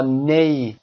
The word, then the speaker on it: neigh: نی، دقت داشته باشید چه کردن اسب، صدای اسب رو با نی بیان میکنیم و به نگارشش هم دقت داشته باشید neigh اما تلفظ میشه نی.